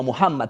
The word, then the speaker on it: Muhammad: mohamad el maom maoma muhammad como le llaman en árabe yo hablaré de maoma porque es como se pronuncia en español y es fácil pronunciarlo